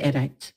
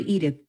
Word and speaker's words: Edith: no trouble pronouncing it Edith edit edit Mrs Donahue said she wrinkled up her nose and raised her upper lip to show me the proper place to put the tongue to make the th